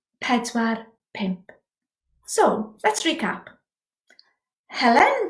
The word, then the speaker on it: pedwar: Now then, yn Gymraeg, if possible, sound the final r. In English, we drive a car. In Gymraeg, we drive a car. Same word, different pronunciation. So, 4 isn't pedwar, it's pedwar.